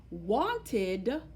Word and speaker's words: wanted: sound that you hear when I say the word wanted. Wanted. You hear a different sound. It's spelled ED, but the ID sound is what you hear at the end.